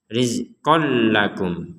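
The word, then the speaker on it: رِزْقًا لَّكُمْ: Jadi jangan sampai ada dengung. Rizqol. Nah, tidak ada. Jadi dimasukkan dan ini diperkuat dengan huruf lam yang ada tasdidnya. Ini tasydid untuk memperkuat kita membacanya rizqol lakum. Jadi tidak ada dengungan sama sekali.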